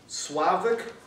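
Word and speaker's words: Slawek: Contestant number 6, Slavik Polinski. Obviously, it's so easy, I don't have to spell that one.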